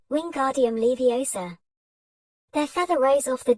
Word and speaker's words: Wingardium Leviosa: "Wingardium Leviosa," he shouted, waving his long arms like a windmill. "You're saying it wrong." Harry heard Hermione snap. "It's Wingardium Leviosa, make the gar nice and long."